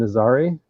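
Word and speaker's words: Nazaré: cousin is there yeah it's Portuguese I think the the so that the city is is named Nazari okay so I've been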